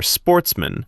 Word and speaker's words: sportsmen: good family, who were sportsmen, a French word pronounced with the accent on the men.